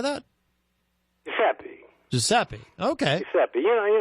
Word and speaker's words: Giuseppe: Giuseppe.